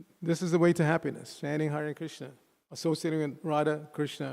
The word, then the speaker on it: Hare: Everybody say, Hare Krishna, Krishna Krishna, Hare Hare, Hare Rama, Rama Rama, Hare Hare. Each of those words composed of 2 syllables.